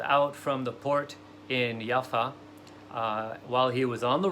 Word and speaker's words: Jaffa: the time in peace in jaffa which is also known as yafo it can be pronounced yaffa which basically means beautiful in hebrew or in arabic um and yaffo or yaffa is the